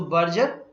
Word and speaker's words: Berger: So, Berger rhymes with burger.